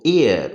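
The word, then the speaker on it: heir: আকাশের দিকে বা আকাশে দু নাম্বার ওয়ার্ডটা দেখো এয়ার উচ্চারণ হচ্ছে এইচ আই এয়ার এয়ার মানে হচ্ছে উত্তরাধিকারী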